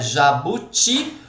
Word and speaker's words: jabuti: Jabuti, o ti e paletó, tó.